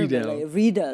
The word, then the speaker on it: Riedel: How do you pronounce it in German? Riedel.